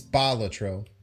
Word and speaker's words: Balatro: It's Balatro. The first syllable is what's pushed.